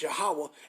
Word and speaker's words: Yahawah: You say his name, our Father's name is Yahawah, and our big brother name is Yahweh Shai.